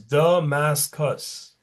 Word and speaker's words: Damascus: It's three syllables. Damascus.